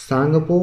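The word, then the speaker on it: Tsangpo: पुत्र में बात करूं सांगपो हमेशा टी से शुरू होगा स में साइलेंट होता है तो ब्रह्मपुत्र में जो इसका तिब्बत में इसको बोला जाता है और इसमें जो होता टी साइलेंट होता है तो तब इसी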